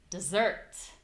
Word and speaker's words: dessert: My voice is higher in pitch. The vowel is very clear and the vowel is longer. So we have desert. Desert and desert. Dessert.